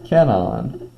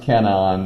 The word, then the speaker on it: cation: So we have a term cation, okay, and it's pronounced cation, not cation. I hear that tried to be read as that quite often.